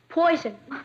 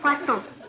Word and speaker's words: poisson: Poison. That's pronounced poisson.